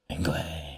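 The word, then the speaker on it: Ingwë: Like my first ever D&D character was called Ingwe, Engwe. I think you technically pronounce it Ingwe. Ingwe. In Elvish.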